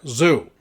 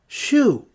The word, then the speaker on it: Xiu: So yeah, Zoo. Xiu. Xiu. In my defense, my mouth is the wrong shape to pronounce that, Regarii pointed out.